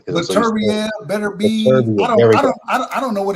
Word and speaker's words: Beterbiev: Beterbiev. Beterbiev. That's the correct way to say it.